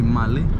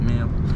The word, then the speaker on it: Malé: the capital of Maldives is actually male actually Mali that's how you say it's Mali but if you read it again in English it can sound as male this is the Indian